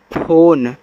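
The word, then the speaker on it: phone: पी एच ओ एन ई फोन, तो पी एच से फा, ओ से ओ की मात्रा फो, एन से ना, लास्ट वाले ई से उच्चारण नहीं करेंगे, ए आपका हो जाएगा फोन।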